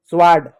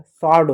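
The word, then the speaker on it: sword: ऐसा साइलेंट होता है। स्वार्ड गलत होता है। स्वार्ड होता है।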